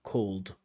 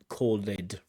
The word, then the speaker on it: called: with called we have it with a du called called with a du watched with a t wanted with an ID candidate over pronounces this ID used to and calleded just listen to that one more time sorry